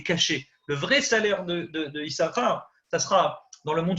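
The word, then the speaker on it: יששכר: Donc on prononce qu'un shin dans les 2 shins de Issachar.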